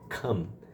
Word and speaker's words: come: Então, no presente a gente vai falar com o som de ã, assim, ó, ã, ã, come. Come.